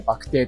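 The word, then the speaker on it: 肉骨茶: バクテーはね、肉骨茶って書いてバクテーと読むんですよね。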